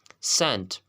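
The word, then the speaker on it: scent: अब रूल क्या है, अगर किसी लफ्ज़ में सी से पहले एस आता है तो सी हमेशा साइलेंट होगा। लाइक आपके पास कुछ एग्जांपल्स हैं। सेंट, खुशबू, सेंट, सेंट।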